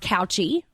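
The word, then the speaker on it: Cauchi: And Jax's last name is pronounced Couchy. It's not Taylor. That's his mom's maiden name, but his actual last name is Couchy.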